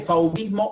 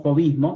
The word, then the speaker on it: fauvismo: en el fauvismo, pero se dice fauvismo o fauvismo, se pronuncia de las dos maneras, pero el Art Nouveau